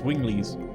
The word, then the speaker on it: Wingly: calls himself wingly seriously they even pronounce it like this I'm not like making the pronunciation up they refer like again it has voice acting so we heard it several times but yes Wing Le you know there's humans